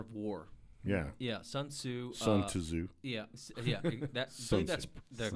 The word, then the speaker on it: Sun Tzu: Sun Tzu. Yeah. That's the correct pronunciation.